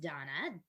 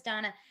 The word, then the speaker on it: Dana: So my name is pronounced Donna.